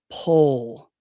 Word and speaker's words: pull: Is pool and pull pronounced the same? No. So the first one is pool, pool. The second one is pull, pull.